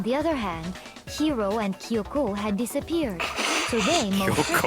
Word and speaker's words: Kyoko: But is it not Kyoko? Oh, man. No. It's Kyoko. You put the enunciation on the first O, not the second one. Kyoko.